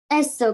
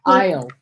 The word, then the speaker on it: aisle: Greenberg came down the aisle collecting the Aisle. aisle. The A is silent.